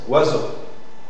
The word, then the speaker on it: oiseau: comme ça moi d'accord le cas de oiseau c'est une seule syllabe donc je ferai là il y a beaucoup de lettres 1 2 3 4 5 6 lettres en français c'est terrible par contre il y a 4 son oiseau oiseau d'accord bien donc